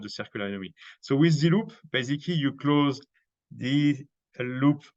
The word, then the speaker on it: ZeLoop: And as you have noticed, I'm French, and French have problems to pronounce D. They will, it doesn't exist exactly the D, the English D, you know, we have to put the tongue on the top. So we will most French will pronounce it Z or Z. So the ZZE. So we say, okay, we close the loop. So we turned that to ZeLoop, and the name was